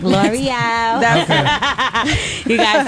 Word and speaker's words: Lore'l: You is it L'Oreal? It's like L'Oreal.